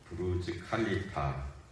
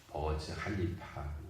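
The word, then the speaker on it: برج خليفة: 브루즈라고 했는데 현지 어르는 버즈라고 그렇게 발음한다 그랬고요. 그리고 앞에 있는 K도 묵음에 가깝다고 그럽니다. 무성일래서 버즈 할리파 그쪽 사람들은 그렇게 하는데 전 세계적으로론는 브루즈 칼리파라고 칼리파라고 돼 있네요.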